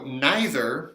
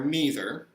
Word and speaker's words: neither: question whether you have so neither or neither you can pronounce it either way he's gonna be good